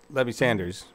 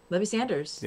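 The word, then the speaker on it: Levi Sanders: But yeah, you did hear that right, Levy Sanders. Yeah, Levy Sanders, son of, and we're saying it right.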